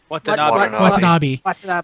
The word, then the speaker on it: Watanabe: Watanabe.